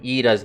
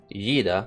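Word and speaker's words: Y'da: close and reponouncing um eda's name okay I'm so close to pronouncing it as yida because there's a y but but it's pronounced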